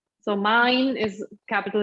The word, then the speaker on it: mein: So mein, this E and I is pronounced A.